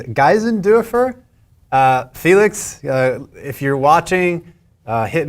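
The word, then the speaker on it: Geisendörfer: Yeah, and then one other thing, I was told by folks smarter than me that the pronunciation of Felix's last name is Geisendorfer.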